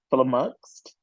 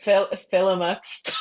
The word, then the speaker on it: flummoxed: that's not how it's said. Flummoxed. I can't. Yeah. Flummoxed. Is it flummoxed? Yes. Yes. I've never said You it. I've said only written it. you Flummoxed. said Philomuxed.